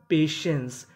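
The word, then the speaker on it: patience: मतलब होता है वाक्य पी ए टी आई ई एन सी ई इसे पढ़ेंगे पेशेंस टी आई को यहां पे से पढ़ना है तो मीनिंग बनी पेशेंस पेशेंस का मतलब होता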